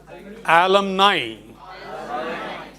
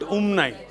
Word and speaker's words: alumni: Let alumni, not umni.